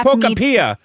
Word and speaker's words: Pokopia: So Minecraft, it's pronounced pocapia.